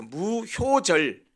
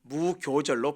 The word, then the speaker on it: 무교절: 아까 말씀드린 대로 유월절에는 누룩 없는 떡을 먹었기 때문에 없을 무자에 발효할 때 그 효자, 이 교로도 발음됩니다. 그래서 무효절, 근데 우리나라 성경에는 무교절로 번역을 했습니다. 그러니까 무교절이라고도 하지요.